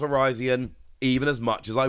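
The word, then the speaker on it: Virizion: were done with Verizon and yes it is pronounced Verizon even as much as I wish it wasn't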